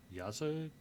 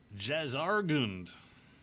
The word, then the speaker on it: Jazargund: I'm at Yazargund? Yazargund? Jazargund. Jazargund. That's how you say it.